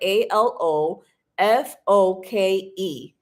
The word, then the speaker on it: Alofoke: Alof, you spell it a l o fo k e. Alo foke. Just like the way it sounds.